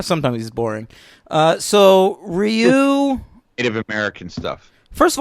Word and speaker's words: Ryu: older boy and I referred to him as rayu and this got all up in my face and like gave me me and said it's pronounced Ryu and I that I